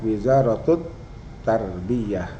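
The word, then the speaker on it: وزارة التربية: Tapi kalau idofat ini keluarnya tak marbutohnya tidak ke ha, tapi tetap ke te nih ya. Wizaratut tarbiyah, ini wizarat al tarbiyah, menulisnya bacanya tetap wizaratut tarbiyah.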